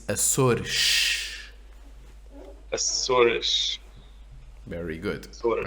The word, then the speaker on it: Açores: If there's an S at the end of a word, it's obviously at the end of the last syllable. but it could be at the end of a syllable, not at the end of a word.